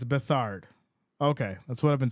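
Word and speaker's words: Beathard: According to Wikipedia, it's pronounced Bethard. That's what I've been saying. Who said beat hard?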